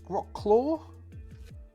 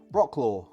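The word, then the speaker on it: Wrocław: a ruined town of this might be a silent W uh rock rocks Rock claw Rock claw Rock laaw w r o c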